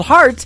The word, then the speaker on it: Hart: good friend Robbie Hart it is HR t on her last name and that is called heart in two places yeah I just like your heart that how that's spelled and uh she is